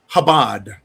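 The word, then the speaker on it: Chabad: Uh, Darc uh uh has let me know it's pronounced Habad.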